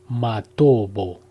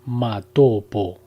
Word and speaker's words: Matobo: de las piedras redondas, Matobo, pronunciado erróneamente Matopo, en Zimbabue.